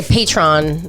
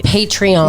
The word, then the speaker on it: Patreon: apparently let's say right I guess a lot of people say patron it's a patreon no it's it Aon